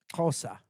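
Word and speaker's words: Xhosa: The language is kosa. That's how they say it.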